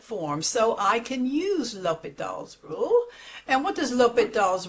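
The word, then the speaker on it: L'Hôpital: Today we're going to be solving a limit using L'Hopital's rule and it's not L'Hopital, the H is silent, L'Hopital.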